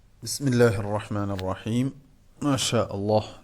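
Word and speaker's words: بسم الله: അവസാനം നമ്മൾ നിർത്തി നിർത്തുന്നതായ അക്ഷരവും അവ്യക്തമായി പോകാറുണ്ട് അതിന്റെ ഉച്ചാരണം തന്നെ കൂട്ടത്തിൽ പെട്ടതാണ് ബിസ്മില്ലാഹ് ബിസ്മില്ലാഹ് എന്ന് പറയുമ്പോൾ കണ്ടോ ബിസ്മില്ലാഹി റഹ്മാനി റഹീം ബി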